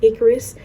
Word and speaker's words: Ikaris: His name is Icarus, which is spelled Ikaris, not as in Icarus as in like Greek mythology character, which I do want to mention.